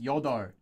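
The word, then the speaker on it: 여덟: The L will not be pronounced most of the time. There are some exceptions to that. Uh, the most common exception you're going to see for that is Yodor.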